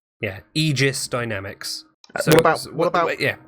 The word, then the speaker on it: Aegis: Aegis Dynamics, commonly mispronounced as Aegis, but it's not from the Latin, it's from the Greek, and therefore AE is E, rather than in Latin it would be A. So it's Aegis. Aegis.